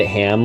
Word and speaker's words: Ham: And his name rhymes with Spam. Yeah, it's the evil Dr. Porkchop himself, Ham.